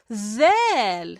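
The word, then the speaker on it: ذال: And the one that has a dot on top of it is pronounced zal, zal, zal, zal.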